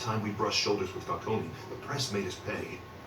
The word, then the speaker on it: Falcone: I don't even know why they even pronounced the E in it. I'm so used to Gotham that I'm used to the E being silent.